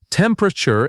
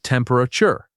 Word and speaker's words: temperature: This word often loses a syllable in casual speech. It becomes temperature instead of temperature.